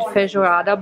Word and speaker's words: feijoada: So I learned that I'm supposed to pronounce it feijoada bowl, and here it is.